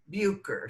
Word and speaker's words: Butcher: Yeah, but they pronounced it Bucher sometimes. Okay, because With a now they're silent T, or maybe there was no T, I don't know.